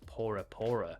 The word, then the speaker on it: Bora Bora: of Tahiti fun fact as there is no letter B in the Tahitian language Bora Bora is actually pronounced porapora which translates to firstborn